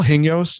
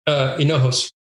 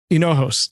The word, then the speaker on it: Hinojos: Is it Paul Hingos? Is that how you pronounce it? It's Hinojos. Hinojos.